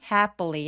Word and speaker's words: happily: 여기서 주의할 점은 happily 할 때 에 소리가 굉장히 긴 장음이란 부분이에요.